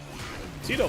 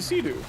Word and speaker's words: Cedo: Tito. That's how you say it. Or as Megan calls it, the Sea-Doo.